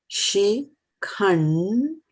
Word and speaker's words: Śikhaṇḍī: Śikhaṇḍī. So there's a, and dot, end with a dot, so it goes khaṇḍī,